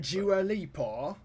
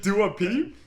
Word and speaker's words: Dua Lipa: And Dua Lipa as well. You mean Dua Peep? I guess don't know. Well, it's like basically a talk show host mispronounced like Dua Lipa's name and called her Dua Peep, and then the internet went crazy.